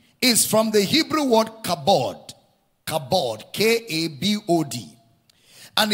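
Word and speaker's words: כָּבוֹד: The word glory is from the Hebrew word kabod. Kabod, K-A-B-O-D. And it's the Greek word doxa. Doxa, D-O-X-A. Kabod, doxa. Okay? Now, it's the word doxa in the Greek, taken from the word kabod in the Hebrew.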